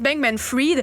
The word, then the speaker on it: Bankman-Fried: Fried, comme ça qu'il le prononce, Bankman-Fried.